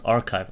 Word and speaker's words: arXiv: let me Google this how to pronounce arxiv pronounce archive okay from archive so